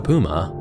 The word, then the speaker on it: Puma: to be like a puma again depending on where you're from you may say puma or Puma either way dividing one